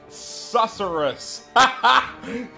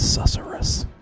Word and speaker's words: Susurrus: Alright, Cuff has escaped Frey's wrist and turned into the demon known as Susurrus.